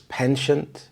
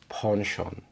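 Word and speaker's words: penchant: would be pronounced as pension but in British English it closely resembles the French pronunciation it's not exact so it's ponon he has a ponon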